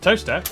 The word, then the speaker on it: Towcester: Mousehole, Next, travel north up to Towcester, Toaster, then a quick jaunt to Gotham, Gotham, followed by a stop in Quernmore, Quorma, before finishing up in Alnwick.